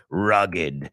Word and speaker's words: rugged: montañero, you know, like rugged, fuerte, robusto, you know, duro, accidentado, rugged. Es R-U-G-G-E-D, pero no es rugged, es rugged. Se pronuncia esa E, ¿ok?